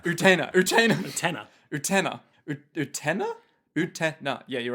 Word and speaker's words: Utena: Are you saying Utena is desired by my brother? Our pronunciation is slipping from habit. Utena. Utena.